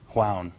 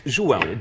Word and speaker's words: João: Juan Miranda. Did I get it? One of them. It's João. Juan. João. Okay.